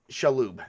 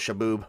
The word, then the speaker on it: Shalhoub: Tony Shalhoub. There you go. I thought it was Shaboob. Whoops, I butchered that name.